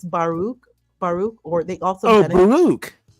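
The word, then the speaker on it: Baruch: Um that's not how you pronounce his first name. Spinosa. No, his first name is Baruk.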